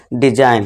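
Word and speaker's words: design: जी के बाद क्या है, एन है, ये आपको ध्यान रखना है, तो यहाँ पे क्या हो जाएगा, जी साइलेंट, और इसे हम क्या पढ़ेंगे अब, डिजाइन।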